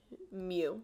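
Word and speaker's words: μ: this little me this is the Greek letter mu that's how you say it okay variance is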